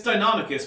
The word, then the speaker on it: Deinonychus: It's Deinonychus, but if you say Deinonychus, I'm not going to complain about it.